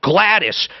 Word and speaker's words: Gladys: But this one, my God, am I pronouncing this right? Gladys? Oh, Gladys.